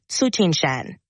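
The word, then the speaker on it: Tsuchinshan: to pronounce it do you know how to pronounce it the comet's name starting with t that you're referring to is likely suchin Shan it's named after the observatory where it was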